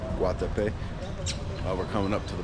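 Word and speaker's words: Guatapé: I was saying it wrong earlier. Guatape.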